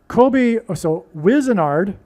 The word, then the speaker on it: Wizenard: So Wizenard rhymes with wizard.